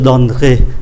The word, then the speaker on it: donnerai: Các anh chị để ý là cái syllab, cái âm tiết mà mang ký tự ơ nó nằm ở giữa, tôi để cái mũi tên này, nó không có phát âm. thành ra chỉ còn có là je donnerai, je thay vì je donnerai nó còn có hai syllabe.